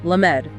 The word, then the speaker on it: Lamed: Now move to the second letter, Lamed, or L-Lu. Notice where your tongue is. Lamed is a lingual letter. It is pronounced with the middle of the tongue striking the roof of the mouth.